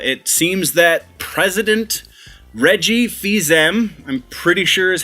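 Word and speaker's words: Fils-Aimé: Nintendo of America it seems that president Reggie fils-aime I'm pretty sure is how you pronounce his name he will be retiring as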